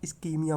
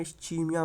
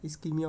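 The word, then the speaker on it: ischemia: नजीब के देखोगे लेक्चर, या यूएस में कहीं पे पढ़ोगे तो वहाँ इस्कीमिया बोलते हैं। इंडिया में इस्चीमिया, मैं भी इस्चीमिया बोलने लगा था, बट इसका रियल प्रोनाउंसिएशन है इस्कीमिया, इस्कीमिया बोलते हैं।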